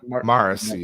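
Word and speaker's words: Marasi: then you have uh marcy uh am i pronouncing it wrong morrissey is how you pronounce mark marcy yes who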